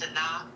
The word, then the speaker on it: Sanaa: Yeah, her name is Sanaa, just like the actress Sanaa Lathan.